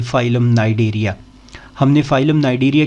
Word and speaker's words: Cnidaria: इसमें यह सी साइलेंट है तो आप लोग इसको फाइलम नाइडेरिया बोलेंगे।